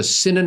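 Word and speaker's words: Sinang: botch the pronunciation here it's si n e and e ng so sinan Aang M Evelyn Synanon Smith she offered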